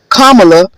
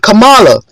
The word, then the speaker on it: Kamala: It's pronounced Kamala, not Kamala, as a subtle form of racism.